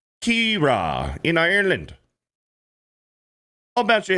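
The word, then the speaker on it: Ciara: And Daniel Moore with a 250 says, "Sara is an Irish name pronounced Kira." In Ireland. In Ireland, it's Kira.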